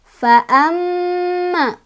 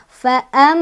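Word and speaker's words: فأما: Di sini ada gunnah sebab ada mim bertasydid, dibacanya didengungkan dan dengungannya ditahan 2, 3 atau 4 ketukan. Fa'amma, ma ada mad tabi'i karena ada alif, sebelumnya ada fathah, dibacanya panjang 2 harokat.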